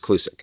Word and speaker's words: Klucik: So, Robbie Clusk, that's right. Slavic name. Yeah. But still pronounced Clusk.